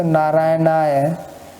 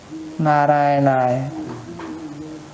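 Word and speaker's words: नारायणाय: When you say Narayanaya, it is very little pronunciation. Narayanaya. Narayanaya. So it's more like E sound, Narayana.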